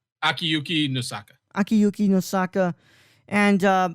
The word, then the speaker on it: Akiyuki Nosaka: Akuyuki Nosaka. Akiyuki Nosaka.